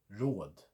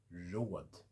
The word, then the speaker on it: råd: Short little flick. Put that into a word. Road. R-O-D. Road. It means advice. Road.